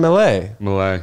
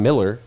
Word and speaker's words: Millea: probably every day yeah how do you say it Malay but I wouldn't say Miller no people say Miller they say Malia Amelia well I think I know it's Malay though because you told me